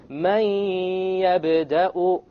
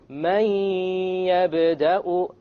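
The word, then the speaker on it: مَنْ يَبْدَأُ: So we pronounce this as man yabda'u, man yabda'u, man. Notice there is no man. It's immediately the mim associates with the ya, and you drop the noon sound.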